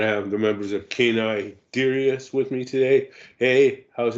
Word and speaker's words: Canis Dirus: Yeah, it's Canis DIrus is the correct pronunciation.